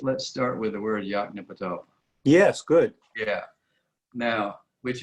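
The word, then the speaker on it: Yoknapatawpha: probably have pronounced it they would pronounce every syllable equally dean said that william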